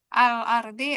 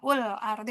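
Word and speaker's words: الْأَرْضِ: Mbak Nenek alardi apa ul ardi apa il ardhi? Iya alhamdulillah. Al benar ya? Al ardi. Iya masyaallah.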